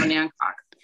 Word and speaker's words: Onancock: I believe I'm pronouncing that right. I know the pronunciation gets a little odd in some of those areas. It's Onancock.